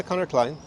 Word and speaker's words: Conor Clyne: Today I'm here with Conor Clyne. Do you pronounce it correctly? Yeah, Conor Clyne. Yes. It's almost like a German last name, Clyne.